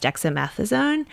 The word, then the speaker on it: dexamethasone: And then the third day today is when we found out he also has dexamethasone. Am I pronouncing that correctly?